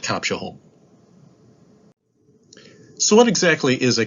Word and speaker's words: Copshaholm: Today, I'm going to present The S is Silent, a look at the Concours d'Elegance at Copshaholm.